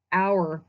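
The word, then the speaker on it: Auer: reasonable second we've got our deference so it's spelled a yu-er a but it's pronounced like an hour of time and this deference comes to us from a 1997 Supreme Court case our versus Robbins in our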